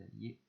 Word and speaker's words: alliez: Et enfin, le verbe aller, j'allais, tu allais, on allait, nous allions, vous alliez, on prononce bien, hein, ils allaient. On n'oublie pas le i, qui est ici. Nous allions, vous alliez, c'est important.